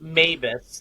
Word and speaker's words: MABAS: saying it correctly uh it's Mavis that's okay it's called Mavis yeah okay box alarm